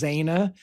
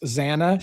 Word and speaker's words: Xana: No, with Xana. Okay. Gotcha. Maybe. Any social media? You notice it's a small bitch, but you notice how the officer constantly says Zaina, and he constantly corrects Xana, but she refuses to change the pronunciation.